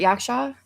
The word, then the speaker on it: Yaksha: Yaksha.